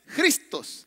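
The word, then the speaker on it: Χριστός: no lo crea y se pronuncia así mire con jota se pronuncia a ver dígalo conmigo se pronuncia cristos así que la fe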